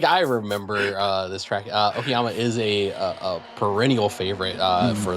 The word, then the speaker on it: Okayama: It is Okayama today, Yes, it correct? is. Yeah, I really should have mentioned that, Yeah, shouldn't I? yeah. I was looking like I remember this track. Okayama is a perennial favorite for those of that